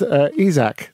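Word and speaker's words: Isak: even though he can alexander isaac not chris isaak sorry it was a wicked game that's why I said a Zack so one give him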